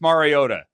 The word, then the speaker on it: Mariota: It is Marcus Mariota. There you go. And he is going to get I mispronounced it, but yeah.